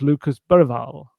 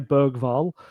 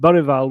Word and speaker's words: Bergvall: Lo and behold a year on and he said Lucas Burwal Berg Burwal. I don't think he said the G did he?